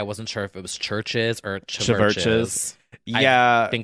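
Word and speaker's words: CHVRCHES: have worked but yeah churches pronounced churches scottish synth pop group been around since like 2013-ish or so or 2011.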